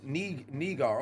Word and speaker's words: Niger: Oh, it's pronounced uh um Nigar. Okay.